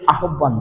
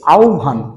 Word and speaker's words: আহ্বান: এই যে আহ্বান বললাম, এই আহ্বান শব্দটা কিন্তু আহ্বান না, উচ্চারণটা হবে আহ্বান।